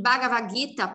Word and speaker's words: Bhagavad Gita: É como uma aspiração. Então, por exemplo, o exercício que a gente passa de pronúncia é o seguinte, ó. O exercício é assim. Fala ba, ba, ba. Agora sopra. Entre o B e o A, você solta um sopro.